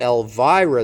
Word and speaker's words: Elvira: Okay, so Elvira, the stress is here.